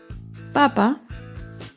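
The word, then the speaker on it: papa: veamos las siguientes palabras papá lleva el acento en la primera sílaba en cambio papá lleva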